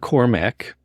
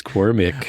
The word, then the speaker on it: Cormac: come on there first of all it's not Cormac it's cormic a lot of people say Cormac which okay